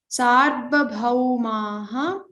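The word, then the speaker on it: सार्वभौमाः: Sarvabhaumaha. So remember, don't stress on the ra, like sar, don't make that sound. Sarva bhaumaha.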